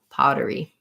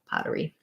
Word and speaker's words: pottery: paw the t is a flap here because um it's between two vowels and it's not stressed so it sounds more like a d um so i'll rewrite that that way pottery pottery um good word thank